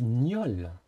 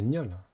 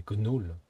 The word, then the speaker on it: gnôle: On dit gnôle. 焼きたてパンに香辛料。 Non, il faut prononcer le gnier comme dans le mot gagner. 頼まれたものは揃ってるわね。 Hein? Non, du coup c'est gnôle. Ah, moi je pensais que c'était gnoll.